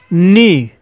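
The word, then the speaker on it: knee: दोस्तों, नी शब्द में के साइलेंट है।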